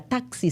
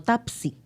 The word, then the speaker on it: taxi: Por ejemplo, es muy normal escuchar a alguien que con la X no tenga un buen rejuego y no te diga taxi, sino tapsi.